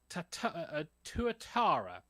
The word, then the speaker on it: tuatara: So, the film is basically about I got to get the pronunciation of this right. Tuatara, basically a lizard called Leo, who is a school pet.